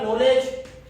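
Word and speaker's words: knowledge: Silent word आ गया, सबसे पहले के, आपने तो बोला नॉलेज, और जबकि आपने शुरुआत किससे की है, के से शुरुआत की, यहाँ पर गड़बड़ है।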